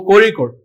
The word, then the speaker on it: Kozhikode: It is pronounced with Ra. Bandira untadi kada. So Kozhikode.